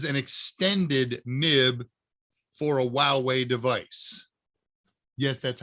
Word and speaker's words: Huawei: and this is an extended nib for a while way device yes that's how it's pronounced lots of people don't know how to